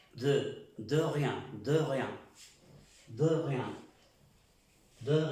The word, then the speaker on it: de rien: Suena, parece que dijéramos do rien. Es de rien.